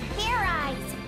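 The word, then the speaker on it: Fairize: Do it again, and this time make sure you pronounce the Z.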